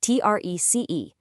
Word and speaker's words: trece: 13 is trece, T-R-E-C-E, pronounced trece. Once again, we're seeing that C-E ending perfectly maintained.